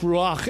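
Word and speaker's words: רוח: In fact, in the Hebrew Bible, the word is pronounced ruach and it means spirit, it means wind, and it means breath.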